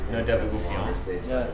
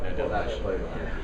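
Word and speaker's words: No Devolución: It's technically supposed to be pronounced No Devolucion, but I pronounce it No Devolution.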